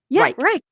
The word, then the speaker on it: Reich: And do we say your last name Reich or Reich or I say it wrong. Reich. That was correct.